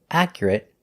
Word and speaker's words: accurate: it it like separate the words we're looking at today are not verbs so they're all pronounced with the it sound words like intermediate adequate legitimate accurate and approximate our first example